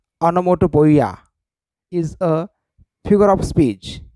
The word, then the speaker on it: onomatopoeia: is not present onomatopoeia remember the pronunciation anamoto boya is a figure of